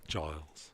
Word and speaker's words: Giles: me when I Giles. I heard you. No, you didn't. Just don't start calling me Giant. A soft G. Giles. A soft G.